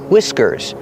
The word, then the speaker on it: whiskers: The H is silent and we use the short I sound like this. is whi-w whiskers.